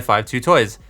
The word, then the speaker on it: 52Toys: video is sponsored by five two toys yes that is how you pronounce their name I asked them they